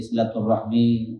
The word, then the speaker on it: silaturahmi: Tentu pengucapannya ada dua. Ada silaturahim, ada silaturahmi. Kilahuma waridatan.